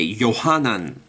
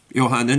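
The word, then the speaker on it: יוחנן: For example, you will find in the South India, they will say Yohanan instead of John. Well, guess what? Yohanan is how it's said, how it's written in the original. So John is an English pronunciation.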